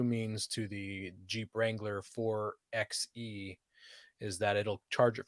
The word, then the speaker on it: 4xe: And Aaron, before we get people writing in complaining about the way you pronounce that, I think it's the 4xe.